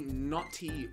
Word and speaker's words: Gnawty: Oh, you've been really Gnawty. I don't know, the English language is all kinds of messed up. Why, like, G? That G is silent? Why the heck would a G be silent?